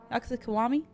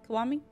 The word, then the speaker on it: Kiwami: the characters from K kiwami kuami is how you say kuami that's cool got to